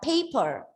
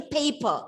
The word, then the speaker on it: paper: a pen on a paper okay it's a paper not paper and i have kept